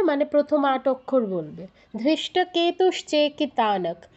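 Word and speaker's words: ধৃষ্টকেতু: প্রথম আট অক্ষর বলবে ধৃষ্ট কেতুস চেকিতানক ধৃতে কেন দীর্ঘ করছো ন তে কেন দীর্ঘ করছো এখানে কি দীর্ঘস্বর আছে ধৃষ্ট কেতু শুধু কে তে দীর্ঘ চেতে দীর্ঘ তাতে দীর্ঘ আবার বলো তাহলে অরিজিত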